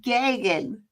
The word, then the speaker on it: Gagan: Guggen. No, it's not Guggen. See, John even said you pronounce it perfectly. Perfect. You say it again. Gagan. Gagan is the way he pronounces his name.